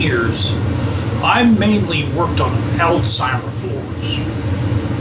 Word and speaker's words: Alzheimer: caregiver for 13 years i mainly worked on alzheimer's floors it's not pronounced it's not pronounced alzheimer's is pronounced alzheimer